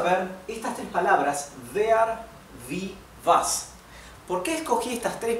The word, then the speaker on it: wie: Estuvimos viendo es vea vi como verdad Recuerden que en alemán esta combinación de vocales la i con la e siempre se pronuncia así I una I abierta